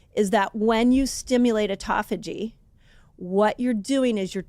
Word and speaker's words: autophagy: way of saying it people say either call it um autophagy or autophagy people say it different tell I said it wrong I kind of landed on autophagy I feel like autophagy is the best way to say it autophagy fasting what's that